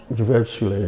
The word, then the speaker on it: Gewerbeschule: How do you pronounce it? Gewerbeschule, yes.